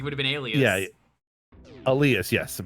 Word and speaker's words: Alias: Yeah, Elias, yes, but it's spelled Alias, but pronounced Elias, but yes.